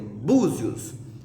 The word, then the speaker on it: Búzios: Por exemplo, Búzios, a penúltima sílaba é bu. Então, o acento vai ser no U.